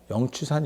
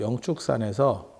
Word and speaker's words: 영축산: 그리고 가장 유명한 것 중에 영추산 염화미소라고, 영축산에서, 정확하게 발음은 영축산입니다.